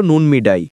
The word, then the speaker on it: নুনমিডাই: কিন্তু কিশোরগঞ্জ ও আশপাশের গ্রামীণ জনপদে এর নাম ছিল নুন মিডাই। স্থানীয় উচ্চারণে নুনমিডাই।